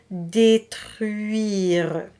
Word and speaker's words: détruire: You have the E sound and the U that comes before. U-I-re. U-I-re, and then put it together. Détruire.